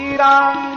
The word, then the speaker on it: राम: मंत्र में नहीं चलेगा राम को रामो बोल दो ये मंत्र में नहीं चलेगा मंत्र में तो मंत्रो